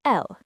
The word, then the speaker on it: elle: For he, we say il, spelled i l, and for she, it's elle, e l l e.